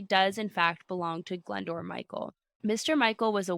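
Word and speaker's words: Glyndwr: him know that he had a suitable body glendor listen to the pronunciation of this guess how this is spelled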